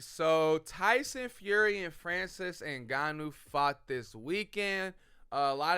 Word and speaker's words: Ngannou: was uh Tyson Fury the heavyweight champion Francis and ganu I believe is how you say it Francis